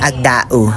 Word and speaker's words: Agdao: Ganun talaga 'yung pagbasa be sa barangay nila. Kailangan mong bigkasin 'yung vowel. Agdau.